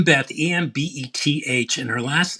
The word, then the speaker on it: Embeth: Beth, Embeth, and her last name is like David with a TZ. David's, and she pronounces it David's.